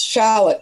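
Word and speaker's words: Shalit: It's Charlotte, S-H-A-L-I-T, just like C-H-A-R-L-O-T-T-E, Charlotte. Just spelled differently.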